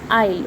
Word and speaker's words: isle: Okay, we just, S is silent, I was pronouncing it in a wrong way. This is isle.